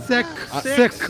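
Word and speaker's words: Sikh: You pronounce it sick? Sick. I always said seek. I guess I'm Sick. sick. Okay, sick. Yes, you did it.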